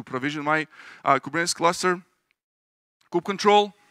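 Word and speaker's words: kubectl: Google Cloud to provision my uh kubernetes cluster cook control how many of you agree with mavic pronunciation of Coupe control how many of you call it Coupe cuddle Coop CTL group control a few few my people here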